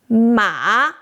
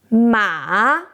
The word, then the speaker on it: mǎ: Now, say ma with the same U shape. Ma, low, down, up.